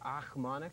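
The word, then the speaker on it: Ochmonek: Achmonic?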